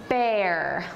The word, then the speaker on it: bear: an image of a bear bear bear good let me he you say air bear good air bear good air bear yeah it Rhymes right we we want to avoid saying beer or bur right yeah and it's